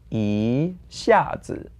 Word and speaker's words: 一下子: And the tone change rule is the same again because we have 下 as fourth tone and then it's 一下子.